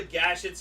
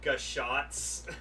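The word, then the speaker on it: Gashat: It's like how it broke Ichi's mind, like telling him, it's like, you know, the gashets are actually pronounced gashots.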